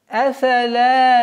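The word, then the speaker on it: أفلا: «Афа ла яаламу иза бу'сира ма фил кубур». «Афа ла». Афала, афала, твердое произношение здесь неприменяемо, недопустимо. Афала, все мягкие звуки.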